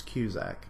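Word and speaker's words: Cusack: calling and I think I was mispronouncing his name it's Q Zach I was emphasizing the Q part last week accuse ex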